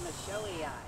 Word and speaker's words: michelii: And Dave Garden, Botanical Pronunciation Guide, agrees. It's Michelii.